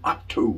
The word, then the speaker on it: Otto: I'm going to show you an incredible listing at 685 Howard Branch Road in Otto, North Carolina. You got to pronounce both T's there.